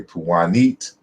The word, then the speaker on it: Punt: So some people say Punt, some people say Puwanit, you know, different variations in terms of pronunciation, of course, because we don't know the exact pronunciation of how the ancient Egyptians pronounced it.